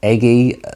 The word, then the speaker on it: Ege: it she's Norwegian but her surname is pronounced EG g e so for me I guess the natural way of saying it would be eger or eggy although that would be